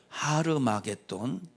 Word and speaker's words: 하르마게돈: 아마게돈이라는 말은 무슨 말이냐 하르마게돈 원래 원어 발음이 하르마게돈이에요 뭐라고요 하르마게돈 이게 원래 발음해요 우리 아마게돈이라고 발음하지만 그럼 하르마게돈이라는 말은 무슨